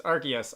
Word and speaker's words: Arceus: get people informing me the canonical pronunciation is Argus I call it arus and there's nothing you